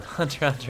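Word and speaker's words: Hunter × Hunter: Hunter x Hunter is pretty great. Is it? The X is silent, right?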